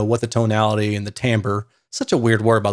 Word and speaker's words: timbre: the tonality and the timbre such a weird word by the way timber going off track timber is what it looks like but it's pronounced timbre and every time i